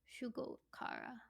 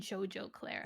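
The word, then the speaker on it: Shugo Chara: watched it shjo CL shoar I think is how it's pronounced Shugo Shugo Cara for some reason in my head it has always been shjo Clara why is it called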